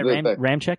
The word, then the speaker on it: Ramczyk: Danielle Hunter, I think, got a sack against Ramczyk. Is that how we pronounce? Yeah, Ramczyk, yeah.